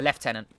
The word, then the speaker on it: lieutenant: marines six sharpshooters and the lieutenant or sorry the left tenant how you say it technically but it's very important